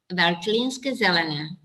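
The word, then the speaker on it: Veltlínske zelené: How do you pronounce it? Veltinské Zelené.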